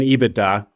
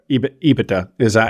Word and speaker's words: EBITDA: Well, speaking of the DA in EBITDA, or EBITDA is my new pronunciation. Somebody called me out for my putting emphasis on the wrong syllable there.